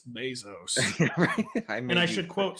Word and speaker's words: Bezos: The Jeff is abyzou. Some apparently. I've been censured and canceled and it's Bezos.